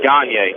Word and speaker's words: Gagne: That is Logan Gagne. Gagne, of course, spelled G-A-N-I-E-A-N-Y. Pronounced Gagne. The only way I can remember that is hockey.